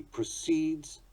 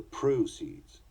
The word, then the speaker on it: proceeds: Sometimes the stress will change according to the meaning or nature of the word. He inclines to project bad vibes. A project to study the inclines. He proceeds to rebel. The rebel steals the proceeds.